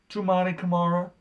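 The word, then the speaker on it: Toumani Camara: Most disappointing player on the Trailblazers, I put Tumani Kamara.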